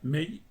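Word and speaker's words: 梅: en el carácter para ciruelo que se pronuncia mail porque el ciruelo es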